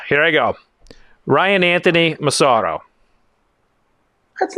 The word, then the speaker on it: Massaro: You're more of like the guy in Italy who would pronounce it. Okay. Mazzaro. So you would prefer the Massaro? In Philly, we say Massaro. Massaro. In Philly, okay. Yeah, and in Philly, we really say Massaro. You say it like that.